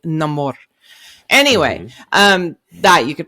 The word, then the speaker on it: Namor: character coming in um Neymar or is it it's a name or if you say it like us but it's if you uh are listening to his story and how he got named it's gonna be no more anyway um that you